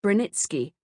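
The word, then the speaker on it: Branicki: In Polish names such as Braniki, I have left the name in its more Polonized form pronounced Brrenitzki.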